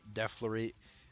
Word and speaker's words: Deflorate: And that brings us to 2009's Deflorate, which Deflorate is how you say it. A lot of people say Deflorate or Deflorate or something like that, but it's Deflorate.